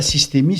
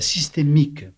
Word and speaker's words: systémique: C'est pas la systémie, c'est la systémique.